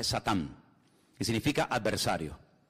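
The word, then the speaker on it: שָׂטָן: que viene del hebreo en hebreo no se dice Satanás dice satán que significa adversario y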